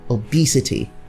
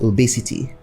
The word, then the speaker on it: obesity: And then as you say obese, that same way you're expected to say obesity, not obesity, but obesity.